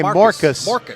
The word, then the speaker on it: Marcus: is that right yeah Eli Marcus rhymes with Dorcas like the lady in the Bible you remember Dorcas in